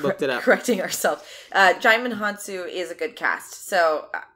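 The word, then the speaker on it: Djimon Hounsou: I know you gotta look it up now diamond han-soo it's pronounced Djimon Honsou says the Internet got it and you know what we did the right thing and looked it up correcting ourselves Shimon Han soo is a good cast so I'm okay I'm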